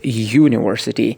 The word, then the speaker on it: university: you will understand that the word starts like Y. University. Y sound comes from Y. Okay, like New York, like yellow. This Y sound is part of the consonant sound.